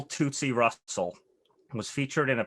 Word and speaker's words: Tootsie: Yeah, it's typically pronounced Tootsie. Tootsie Roll.